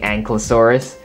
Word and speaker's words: Ankylosaurus: Now in the Indominus Rex versus Ankylosaurus review, I completely butchered this dinosaur's name. I kept saying Ankylosaurus. Or Ankylosaurus, I think I kept saying that. So, my bad. I realized my mistake, and the proper way to pronounce this is the Ankylosaurus.